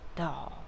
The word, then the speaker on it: Dahl: is the siri doll that's spelled d-a-h-l doll okay cool so before you